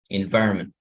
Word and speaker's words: environment: Todas las palabras que tienen como esa terminación suenan así, right? We're getting in words like this. Okay, you also say mountain, mountain. Entonces la última sílaba no suena. Mountain, environment. I don't know, like this could be. Esta palabra cargamento, envío. Shipment, shipment. Shipment. You see. Okay, so the last ENT was not pronounced really strong.